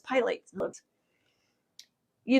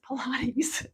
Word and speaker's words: Pilates: my brain I go oh that's pilot you I'm a big reader but I don't always know how things are pronounced primarily because I was a whole language learning child and so I never learned phonics. So I do have I struggle with pronunciation sometimes. It's Pilates. It's Pilates.